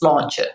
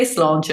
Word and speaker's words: sláinte: remember is our equivalent of cheers, which is sláinte, which is, means your good health, which it does in lots of countries. I suppose it's like salute. So yeah, if you say sláinte and you raise your glass or your cup